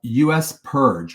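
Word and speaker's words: U.S. PIRG: There's also an organization called US Purge, which is spelled USPIRG.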